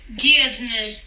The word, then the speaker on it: Dirndl: Vamos escutar corretamente a pronúncia em alemão. Dirndl.